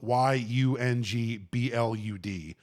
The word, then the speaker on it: Yungblud: Yungblud is spelled y u n g b l u d.